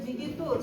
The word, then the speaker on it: digitus: It should be pronounced digitus.